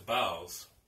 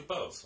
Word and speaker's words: boughs: with both probably now some people who may pronounce the bowels or bells or something but it's actually both of Hawley okay so let's go